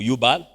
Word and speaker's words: Jubal: des enfants des Caïns qu'on appelle Jubal ou Yubal, en hébreu, ils n'ont pas des J vraiment, ils ont des Y, que des fois on met en J. Alors, ils ne prononcent pas trop le J, ils prononcent plutôt les Y.